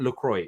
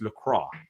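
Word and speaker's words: Lacroix: talk about Defender and apparently it's not lroy it's LCRA so I'm G to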